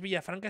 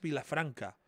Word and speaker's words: Vilafranca: tres noches e es no es villafranca es vilafranca Ah perdón amigo eh